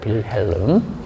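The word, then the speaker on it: Wilhelm: 빌헬름. 음. W가 어 배 소리가 납니다.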